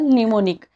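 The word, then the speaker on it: mnemonic: असं कळालं तुम्हाला इथे याचे काही एक्सेप्शन सुद्धा असू शकतात जसं की फॉर एक्झाम्पल निमोनिक याच्यामध्ये एम एन जरी जोडून आलं तरी इथे एन चा उच्चार केला जातो बरोबर झालं हे तुम्हाला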